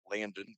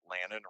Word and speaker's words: Lannon: But anyway, their starting quarterback, Lannon Nicolof, not Landon, but Lannon, rhymes with Dannon or Shannon.